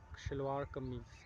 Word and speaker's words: shalwar kameez: And this the name of these clothes are, it is called and pronounced like shalwar kameez, and it is black color, and I love black and white, both colors, and I like it very, both colors.